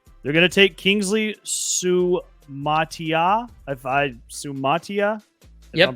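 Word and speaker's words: Suamataia: They're going to take Kingsley Sumatia. If I'm pronouncing that right.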